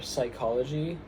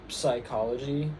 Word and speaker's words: psychology: Um and they are psychology, pterodactyl, and mnemonic. So, we just pretend in English we just pretend that those um that those um letters don't exist, but in Greek they